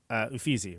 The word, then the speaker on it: Uffizi: First of all, Uffizi, right?